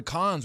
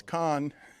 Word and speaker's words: Cannes: and apparently over in Cannes, where they were doing the film festival, a powerful... you pronounced the S at the end, huh? Cannes, okay. yeah. All right. I think it's Con.